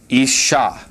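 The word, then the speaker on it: אִשָּׁה: And so this word would be pronounced ish. Isha like that. You got the sh in there twice because you have that doubling dot.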